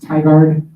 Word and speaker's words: Tigard: So actually it's Sunday, the Sunday of that weekend, and it will be in, I want to say it's pronounced Tigard, Oregon, in the Portland, Oregon area.